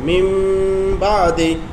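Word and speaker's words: مِنْ بَعْدِ: যেমন মিম বা আদি, এখানে নুন সাকিনের পরে বা অক্ষর এসেছে যার কারণে নুন অক্ষরকে মিম উচ্চারণ করতে হচ্ছে, এখানে আর নুনের উচ্চারণই নেই, সরাসরি মিম উচ্চারণ হবে, মিম বা আদি, বুঝতে পারছো?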